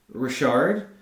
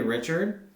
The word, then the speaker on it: Richard: show but I realized that I said his name wrong like five or six times and I don't know why so Anthony Rashard I called him Anthony Richard even after I corrected myself I then proceeded